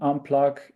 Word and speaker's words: Unpluq: Unplug is spelled with a Q in the end. So it's like unplug, but then instead of the G, it's a Q.